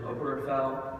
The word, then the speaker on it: Obergefell: thanks to my friend jim oberfeld that's how you pronounce it obergefell and his partner the